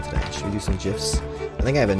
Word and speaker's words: GIF: Everybody loves GIF. Pronounced correctly, though. I can't be saying GIF like some kind of peanut butter person.